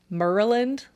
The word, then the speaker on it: Maryland: Road in Maryland and in Maryland a lot of the natives pronounce Maryland merland Murray merland it just